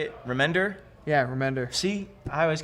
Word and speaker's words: Remender: Remender?